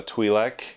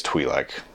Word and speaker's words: Twi'lek: in Star Wars a twi'lek or Twi'lek I think I think it's twee like is probably how it's pronounced properly but I had no